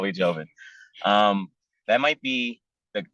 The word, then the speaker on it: Jovin: reach you at find me on LinkedIn um Joven first name is spelled j-o-v-i-n last name l e z e